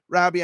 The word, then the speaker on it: Robi: It looks like it says Robi, but it's pronounced Robbie.